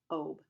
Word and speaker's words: Obe: When Mom called me by my nickname, she used one syllable, Obe, like lobe without the L.